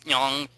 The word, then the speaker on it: ng: the NG word in, it's not a word, it's nyong, but that always trips up English speakers.